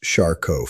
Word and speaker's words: Charcot: One of the most significant conditions is called Charcot foot, pronounced Charcot foot.